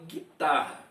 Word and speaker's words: guitarra: Mas, veja bem, a gente fala guitarra. Ou melhor, realmente a gente fala guitarra. Mas olha a escrita. Olha o U. Vê se a gente pronuncia o U. Veja aí os dois R's.